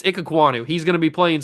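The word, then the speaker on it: Ikegwuonu: I guess we call him Icky or Emeka Icky. I don't know. But it's Ikegwonu.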